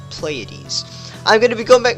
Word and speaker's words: Pleiades: the map of okay Pleiades that's what you guys told me you pronounce Pleiades I'm gonna be coming